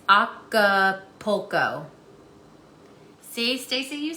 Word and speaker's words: Acapulco: mean it could no it's not alcopo no see that's why i thought stacy it's not look there is no l after the a it's acapulco see stacy you said